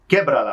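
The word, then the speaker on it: Quiébrala: Quebrala. Quebrala. So that should have an accent on the E. Quebrala on the first E.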